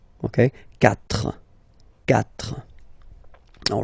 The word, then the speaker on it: quatre: Quatre. Quatre. Okay, so remember that even if you get this u vowel here, basically you don't pronounce it, because that's the rule in French.